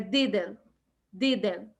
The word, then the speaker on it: didn't: Esse a gente também não pronuncia muito T, então não é didn't, é didn't. De novo, a língua aqui nos dentinhos de cima, didn't. Didn't. Não pronuncia o T.